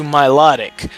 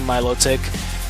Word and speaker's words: Milotic: because it evolves into milotic now Milotic or you can pronounce it my little tick what either ones fine but my logic involves